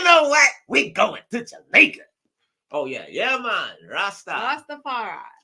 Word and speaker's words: Jamaica: Make sure you take Jamaica. That's how you say it in Spanish. Jamaica.